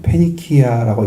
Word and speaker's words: 페니키아: 수르 지방에 수리아 지방에 가셔서 거기에 속한 사람들 당시는 베니기아 있는 페니키아라고 읽죠.